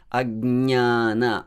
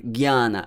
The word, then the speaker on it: ajñāna: You can hear me pronouncing it as ajñāna. I'm not saying ajñāna, maybe like G-Y-A. Many people say jnana and ajñāna, yeah? It's not jnana. There is no sound g there, and there is no sound y also.